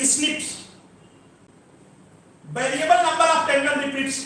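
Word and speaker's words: SNP: आपको बताया था 1.4 मिलियन प्लेसेस ऐसे हैं जहां केवल single nucleotide based differences present है, जिनको बोलते थे एसएनपी, single nucleotide polymorphism, pronounced as स्निप्स।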